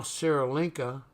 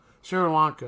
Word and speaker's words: Sri Lanka: there's a seal on which is now Sarah linka yeah I think that's how you pronounce it seal on back in 1944 which they changed their name to Sri Lanka Sri Lanka is how you pronounce